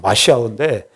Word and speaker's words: 메시아: 2절에 보면 세상의 군왕들이 나서며 관원들이 서로 꾀하며 여호와와 그의 기름부음 받은 자 그의 기름부음 받은 자가 헬 히브리 말로 메시아예요. 메시아 정확하게 발음하면 마시아인데 메시아예요.